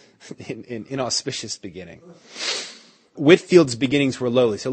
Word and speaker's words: Whitefield: his name was George Whitfield so it's spelled Whitefield pronounced Whitfield he had been preaching